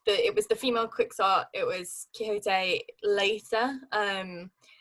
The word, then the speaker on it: Quixote: i'm pretty certain that especially at that time it was don quixot and and people then in the 18th 19th century didn't say quixote no hote has it